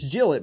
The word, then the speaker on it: Gillett: to us so it's it's spelled like Gillette the razor company but without the e on the end so he says it's Jill it Jill it so Jill it I'm